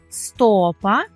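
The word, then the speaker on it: stopa: бо маємо стопа тільки звертаємо на увагу на наголос у цьому слові стопа стопи топа стопи вже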